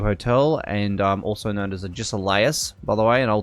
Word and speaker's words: Agesilaus: It's Agesilaus. It's pronounced Agisilaus.